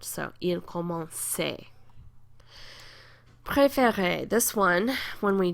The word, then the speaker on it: commençait: But then when we get to the il form, we have to put it back, because a C before an A is a hard C sound. So, il commençait.